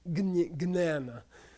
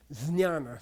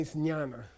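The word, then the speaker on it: jñāna: didn't say, for example, wisdom wasn't jnana, okay? Or as it's mispronounced in India nowadays, gnana, or something like that, like banana, I don't know. It was pronounced properly, which was jnana, say jnana.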